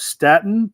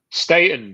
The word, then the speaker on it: Staton: with us as well so this is Staton is that am I pronouncing it right Stayton but uh it's fine everybody so it's fine